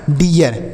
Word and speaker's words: डियर: इसे डीर नहीं पढ़ेंगे, जैसे हमने पीछे बताया कि ई ए से बड़ी की मात्रा होती है, तो आप सोचेंगे यहाँ पर भी बड़ी की मात्रा हो जाएगी। नहीं, यहाँ पर बड़ी की मात्रा नहीं होगी, बड़ी की मात्रा लिखना पड़ेगा, उसके साथ यह लिखना पड़ेगा। तो यह हो गया डियर।